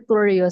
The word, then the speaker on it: WENURTURIO: Yeah, it's Worio. So it's just a combination three words. We nurture you.